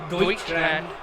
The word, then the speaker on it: Deutschland: word for Germany, would you be able to pronounce it without like struggling? No. Do you know what it is? No. Deutschland. Oh, Deutschland.